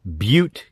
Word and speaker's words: Butte: MONSTURD is set in Butte County. That's right, like Butt County, with an E.